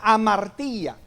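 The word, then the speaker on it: ἁμαρτία: La palabra pecado en el original es una palabra griega que la he dicho muchas veces, que se pronuncia amartía.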